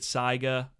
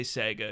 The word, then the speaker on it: Saiga: Some guys pronounce it Saiga. I say Sega because Drew Sky says Sega.